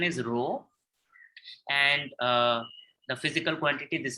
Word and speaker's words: rho: and that constant of proportionality is called, the pronunciation is rho, and the physical quantity this is representing is resistivity.